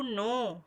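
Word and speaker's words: know: protect र vote through के एन ओ डब्ल्यू नो नो नो के इस silent tears will read E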